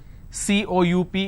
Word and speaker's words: coup: derivatives apartment disagreement dislodge c-o-u-p is coup it's not coop or cow it's coo isolation quarantine gesture a